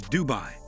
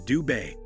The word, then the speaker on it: Dubai: In the English context, The AI in Dubai is pronounced like I. While in Arabic, It's more like an Ai in bay. Therefore, the right pronunciation for Dubai is Doo- Bay.